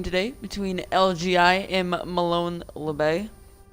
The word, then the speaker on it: Molon Labe: between LG I am Malone lebay that is actually how you pronounce it I was told by the team himself a little sauce boss